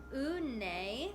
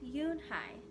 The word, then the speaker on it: Unhei: "Ooh, nay?" the girl asked, scrunching her face. "Ooh, ooh, nay," some kids chanted. No, Yoon-hai corrected. It's spelled Unhei. It's pronounced Yoon-hai.